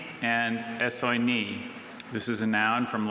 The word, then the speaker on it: essoinee: Okay, essoinee.